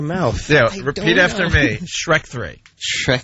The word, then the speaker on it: Shrek: Shrek 3. Shrek 3? See? He goes, Shrek. All right, now say it on your own. Ooh, Shrek 3?